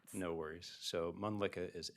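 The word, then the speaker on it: Mölnlycke: because it's kind of hard to spell and pronounce. No worries. So Munlicka is M O L N L Y C K E.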